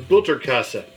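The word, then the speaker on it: Butterkäse: to use is this is butcher Cosette it's spelled like butter Kas see it's a German cheese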